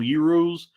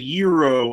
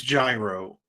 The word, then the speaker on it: gyro: supposed to say because always felt like if I said euro, I was putting too much stank on it and trying too hard to like pronounce it correctly and maybe overcorrecting by saying euro. But I know there's no way it's gyro. Even though, like, phonetically, based on what I know about the English language, it would be gyro.